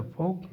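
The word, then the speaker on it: folk: FOL के L silent हो गया है तो फोक डांस, फोक डांस।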